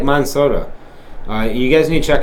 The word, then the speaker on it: Monsanto: Like, they're just like Monsoda. How do you say it? Monsanto.